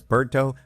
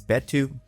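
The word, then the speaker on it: Beto: I pronounced this before as Berto, but the way she said it, it's Betu. That makes sense.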